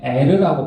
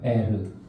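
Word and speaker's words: ער: 이것은 에르라고 발음하더라고요. 에르.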